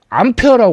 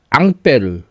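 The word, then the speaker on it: Ampère: 요요 사람 이름을 따서 아 근데 자꾸 암페어라고 그래. 예. 암페어는 그 전류의 단위를 영어식으로 읽을 때는 안페어지만이 사람 프랑스 사람이거든요. 응. 앙들의 말이 앙빼르. 어. 그래서 사람 이름으로 하면 안배를 해요.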